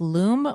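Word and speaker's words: Lumē: what is yours Holly I'm not exactly sure if it's pronounced Loom or Lumi it's l u m e with a line over the E horizontal I think it's Lumi Lumi yeah it's Lumi it's a deodorant that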